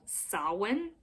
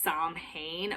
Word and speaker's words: Samhain: christian celtic times and they celebrated something called sawin it literally looks like it should be pronounced samhain but i promise you it is pronounced solid